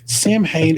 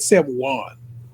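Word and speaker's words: Samhain: Sam I feel like they said Sam Juan. They pronounced it a different way. They pronounced it the Irish way, which is probably the way to pronounce it. And so I'm saying Sam Hang, but forgive me, I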